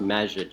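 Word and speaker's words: Majid: It's pronounced magid. So M A J I D. That's how you pronounce like magic. like Orlando Magic. Like that. Pretty much like that, but with a D at the end instead of the C.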